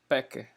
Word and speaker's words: Becker: físicos alemães aqui ó nome dele se escreve bote e Becker mais pronuncia pote e packer eles bombardearam aí berílio